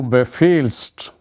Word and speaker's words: befiehlst: Second person singular is du befiehlst, du befiehlst, du befiehlst, that you may write down here. This is a irregularity, du befiehlst. Remember, H is not pronounced because it comes in between.